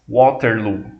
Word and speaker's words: Waterloo: a Vitória da Inglaterra a gente tá mais acostumado ouvir o nome dessa cidade com a pronúncia em inglês Waterloo que a como os ingleses pronunciam o nome mesmo é bater lo